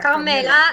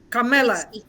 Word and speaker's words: Carmela: Yeah, Carmela. It's one L. Carmela. Like you say Carmela? Carmela. We have Okay. Yeah, in my local language we call it Carmela. Carmela. Carmela. Yeah. It's more music, Carmela.